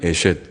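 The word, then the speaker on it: אֵשֶׁת: 앞에 이시는 남자란 말이고, 이샤라는 말은 여자란 말인데, 그거를 우리가 연결시킬 때는 에셋 그렇게 읽습니다. 에셋 카일이라고 읽습니다.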